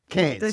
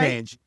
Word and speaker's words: Cairns: Cairns. it right? Cairns.